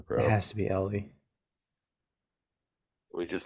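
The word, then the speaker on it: Elly: just call him Eli is that actually how you pronounce it it's not L I've heard both is it Ellie or Eli I don't know literally no one has ever spelled Eli e-l-l-y it's Ellie for sure bro it has to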